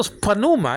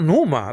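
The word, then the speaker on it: πνεῦμα: just that deal so so panuma it's not Numa like Dr Bron used to say it's panuma I agree with that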